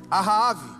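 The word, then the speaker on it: אחאב: O nome Acabe vem do hebraico, a pronúncia é Ahave, significa Ashi, irmão, e Ave, pai, ou seja, irmão do meu pai.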